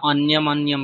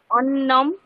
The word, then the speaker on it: অন্নম: বলুন মাধবাহ অন্যমদি পাঠাতি ভুল কি ছিল অন্যম উচ্চারণটা মনে হয় হ্যাঁ আপনার এর আগের দিনও অন্যম অন্যম বলছিলেন অন্য আচ্ছা আচ্ছা তারপর মাধব ভাত খেয়ে স্নান করে পড়ছে মাধবহ অন্নম খাদিত্ব স্নাত্ত পাঠতি মাধব